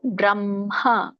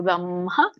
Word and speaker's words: ಬ್ರಹ್ಮ: ಸನ್ನಿತಹ ಇದರ ಒಂದು ಉಚ್ಚಾರಣೆ ಅಕ್ಷರ ಬ್ರಹ್ಮ ಇಲ್ಲಿ ಕೂಡ ನಮಗೆ ಗೊತ್ತು ಸಂಯುತ ಸಂಯುತ ಕುರಿತಾಗಿ ಮ ಹೇಳಿ ಆಮೇಲೆ ಹ ಹೇಳಬೇಕು ಬ್ರಹ್ಮ ಪರಮಂ ಸ್ವಭಾವೋಧ್ಯಾತ್ಮ ಉಚ್ಚತೆ ಅಂತ